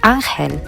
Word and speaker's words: Angel: call me at school angel is a masculine name and pronounced as angel so my students spell my name as e n y e l or e-i-n-y-e-l so this sweatshirt helped